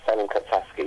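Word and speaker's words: Salem Kapsaski: Did I pronounce his name right? Yes, Salem Kapsaksky.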